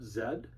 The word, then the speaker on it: zed: And let me just say as an aside there, as a Canadian, I pronounce the final letter of the alphabet zed. And so I quite like the rhyme there.